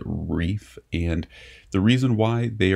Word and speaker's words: Rife: All right, next one up to go into A tier is going to be Reef, or Rife Knives. I believe they pronounce it Reef.